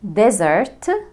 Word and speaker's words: desert: واحد من أهم الفروق بين الكلمتين دول هو the stress. فين الستريس في كلمة desert؟ desert طبعا الستريس موجود على الفيرست syllable desert. أما desert، اسمعوني كويس، desert شايفين السيلابل التاني زرت طويل، أخد وقت. desert أوضح من الجزء الأول اللي هو دي.